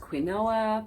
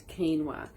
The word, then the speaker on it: quinoa: lovelies this week's product review is quinoa often pronounced quinoa but it's quinoa now quinoa is a is technically a seed